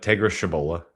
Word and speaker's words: Tegra Tshabola: To me, he's kind of that same mold as Tegra Tshloba, I believe was how you pronounce it, from Ohio State. Unless I just completely butchered that. No, you got it. Tegra Tshabola. Yeah, Tshabola, close enough.